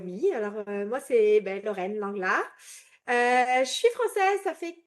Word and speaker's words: Lenglart: Aujourd'hui, j'ai la joie d'accueillir Lorraine Lenglart. Je prononce bien le nom? Ouais, tu peux le dire à la française, l'anglard.